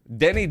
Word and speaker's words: Deni: It's Deni. Deni as in Deni's Deni Grand Slam special of Diva Deni Diva of Diva of Diva?